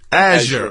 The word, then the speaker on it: Azure: How do you pronounce it? Azure.